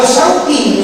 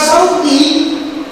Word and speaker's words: Syauqi: Kalau Syauqi nyebutnya, nama saya artinya kerinduan. Tapi kalau Sauki, saya jadinya pasar. Pun ketika manggil saya dengan nama Syauqi, bener sih, tapi belakangnya kaf, beda lagi tuh.